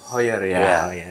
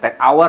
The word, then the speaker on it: Heuer: Heuer ya, bukan take hour ya. Ada yang ngomong take hour.